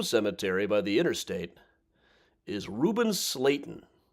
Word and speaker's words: Slayton: Out here at Forest Home Cemetery by the interstate is Reuben Slayton. His name rhymes with Satan.